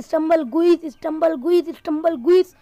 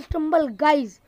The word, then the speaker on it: Stumble Guys: तो गाइज मैं इस गेम को बार बार स्टंबल गुइस इसका नाम प्रनाउंस करता था, लेकिन गाइज ये स्टंबल गुइस नहीं है गाइज, इसका नाम है स्टंबल गाइज।